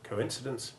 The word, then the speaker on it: coincidence: toy and oyster but on the rare occasions when we have stressed long one followed by short i one as in coincidence and coercion the lips which you have pushed forward to make the long o1 sound need to be pulled back and the mouth widens slightly to make the short i1 which in those words has the same stress as the preceding o the same happens with